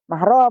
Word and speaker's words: mahram: Mansahli dengan bibitnya itu namanya mahram, bukan muhrim. Kalau muhrim orang yang mau beribadah ihram.